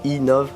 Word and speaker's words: MTB Nov: Donc quand on prononce MTB Nov en anglais, ça fait e-Nov.